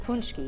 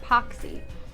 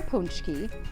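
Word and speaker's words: pączki: pooch key that's right it's called punchy not poxy is launched on january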